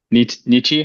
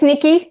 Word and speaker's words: Nikki: Nietzsche, am I saying it right? It's Nikki.